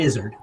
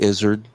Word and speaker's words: Izzard: Yes, Eddie Izzard. Oh, that's right. Comedian Eddie Izzard. Izzard? What do you rhymes with lizard.